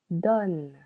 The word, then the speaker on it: donnes: Tu donnes. Silent S. One syllable.